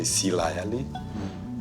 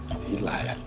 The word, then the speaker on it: Hilayali: Where I'm from, I would say Silayali. But Manasseh is from a province called Nandronga. And in Nandronga, they pronounce S as H, Hilayali.